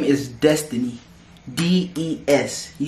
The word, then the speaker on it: Des: your name is destiny d-e-s you spell your name d-e-s-i-d-e-s not d-e-z death c des is how you pronounce it how you spell it how you say it i don't know where